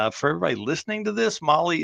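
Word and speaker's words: MAHLE: And for everybody listening to this, Molly is spelled M-A-H-L-E.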